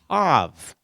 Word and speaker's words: Tav: It's pronounced just like the English letter T.